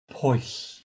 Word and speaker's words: Pwyll: But basically, his dialect has the first part of the diphthong as a short O sound rather than oo. And the answer is that both ways are correct, as the Welsh pronunciation changes depending on whereabouts in Wales you grew up.